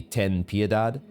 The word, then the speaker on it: Ten Piedad: Does it actually have I think it's supposed to be pronounced, if I were pronouncing it in a Latin or Spanish way, then it would be Ten Piedad.